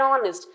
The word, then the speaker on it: honest: supposed to say an honest because though H is a consonant it is silent here and the pronunciation is